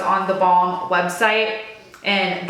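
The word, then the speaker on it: theBalm: I know it's on the Balm website, and the Balm is spelled the B-A-L-M, like lip balm.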